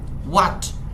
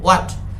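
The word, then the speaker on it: what: মানে কি আলোচনা করতে হোয়াট এটার উচ্চারণ কিন্তু হোট হবে না এটা বলবো হোয়াট দে মানে তাড়া কুড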